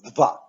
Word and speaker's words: dwa: However, the letter W is almost always pronounced as V, as in vet, voodoo, ventriloquist. Let's pronounce both letters. D, V, V. The numeral 2 in Polish is dwa.